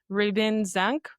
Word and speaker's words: Ribin-Zank: And today we are with Ribbon Zank, right? Did I pronounce that?